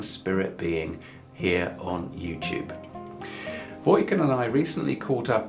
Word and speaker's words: Vojkan: No, it's okay, Vojkan. Yeah. Okay. Because the Englishmen often say the V-O-J, they spell it like Vojkan.